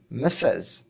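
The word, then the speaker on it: massage: প্রথমটির উচ্চারণ হচ্ছে মেসেজ। অর্থ বার্তা। দ্বিতীয়টির উচ্চারণ মাসাজ।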